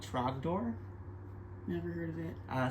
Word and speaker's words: Trogdor: Trogdor rhymes with Gryffindor.